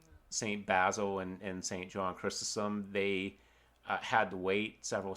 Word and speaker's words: Chrysostom: Chrysostom, I believe is how it's pronounced.